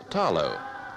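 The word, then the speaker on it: talo: the Samoan diet is the Taro pronounced here with the L as tallow the carefully attended beds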